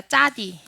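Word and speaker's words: צדי: 짜디. 짜디. 네, 짜디는 이렇게 생겼는데요. 짜디의 발음은 쯔입니다. 쯔. 네, 그래서 우리가 흔히 아는 뭐 찌온 성경 한글 개역 개정이나 이런 데서는 시옷으로 표기가 많이 되어져 있어요.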